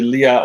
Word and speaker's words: Lea: you yeah as Lia it's pronounced like Lea like Princess Lea so because my family name is Lea le e you skate Annika in